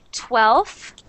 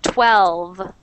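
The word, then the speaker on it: twelve: 12 again 12 good you don't want to say like 12 like an F you want it to be that V sound 12 12 12 there you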